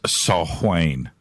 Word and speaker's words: Samhain: of all Gaelic Celts Samhain is pronounced assault Wayne oh no you don't